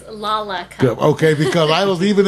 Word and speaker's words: Lollacup: and forth I was hearing some folks say laup and other folks say Lola cup what is the exact pronunciation for that it is laac cup okay because I was